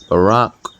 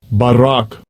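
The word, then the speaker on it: בָּרָק: for the word glittering Barack I believe it is how you pronounce it I believe that's how you pronounce it Strong's H300 Barak Barak I know it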